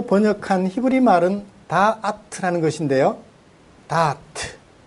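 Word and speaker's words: דעת: 다아트. 요거도 다트죠? 그거하고는 조금은 달라요. 발음은 비슷한데. 다아트라고 해요.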